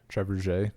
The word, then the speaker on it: trebuchet: Trebuchet? Trebuchet. Yeah, that makes sense that it would not. That makes trebuchet. That makes sense that it would not be pronounced even remotely fucking close to how it's spelled.